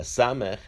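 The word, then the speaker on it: ס: A samech has a numerical value of 60. The samech is pronounced as a s.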